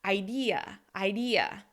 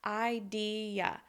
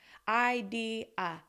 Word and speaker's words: idea: So you need to make sure that the E is longer, louder, and higher in pitch, and that you also